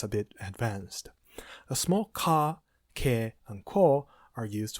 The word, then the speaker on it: ヶ: Note despite it can be written with a small ka or ke it's pronounced ka.